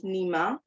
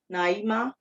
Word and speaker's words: Naima: Her name is Nima. Is that Nima or Naima? No. Naima. Okay. Let me recall my memory. I think it's Naima. Naima. Because NAI is supposed to be Naim, right? Naima.